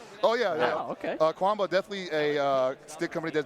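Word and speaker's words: Qanba: Kwamba. It's Kwamba to me. I've heard different pronunciations, Chemba, but I like Kwamba.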